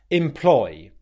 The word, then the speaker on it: employ: you make this word, the first syllable is unstressed and the second syllable is stressed. Employ, employ, employ. This also applies if you're using the words employment, employment liability, self-employment. Okay, we want to make sure that we're stressing that ploy.